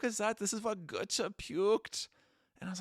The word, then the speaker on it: Goethe: This is what Goethe puked. And I was like, who? Because it's like, it's spelled like Goethe. So I was like, oh, like Gautier?